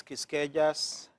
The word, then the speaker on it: Quisqueya: for the audience, it's Quisqueya's Youth Enlightened Success. I pronounce it as yes, the Q is silent.